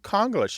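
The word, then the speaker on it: Konglish: exactly right right so it's a bit of conglish a mix of Korean and English that's k-o-n-g-l-i-s-h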